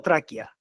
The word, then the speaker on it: Tracchia: Gustavo TR TR o traquia cómo es TR la CCH se pronuncia como K no me expliques No